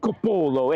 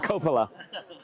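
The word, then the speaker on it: Coppola: Hey, look, it's not it's not Francis Ford Capolo. It's Francis Ford Copala. So you can pronounce it however you want, but it's the field here at Buena High School.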